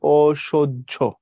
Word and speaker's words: অসহ্য: হবে প্রথমত এটা হবে অসহ্য মানে দন্তসের উচ্চারণ স এর মত হবে তাহলে তালব্যস আর হর